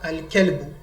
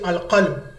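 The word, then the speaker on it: الكلب: Sometimes some will say al-qalb. Al-qalb, if you make it the kaf here, cough, which is the hat. Say Jara al-qalbu, the hat ran. It becomes a mistake. Jara al-kelbu, the dog ran.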